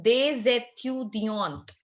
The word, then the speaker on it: des étudiants: étudiant together, it becomes des étudiants. Des étudiants. Why? Because étudiant is starting with a vowel and DES is ending in a consonant. So we carry forward the sound of S along with E.